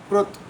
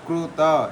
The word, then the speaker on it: कृत: वस्तुतः जो हलंत व्यंजन होते हैं उनका उच्चारण अर्ध मात्रा में होता है। अर्ध मात्रा मतलब कि केवल कृत इतना बोलना है। कृत ऐसा पूरा नहीं बोलना होता है।